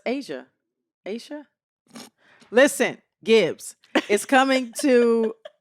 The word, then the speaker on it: Ashia: I think it's Asia. It's just spelled ASHIA. So it's Asia.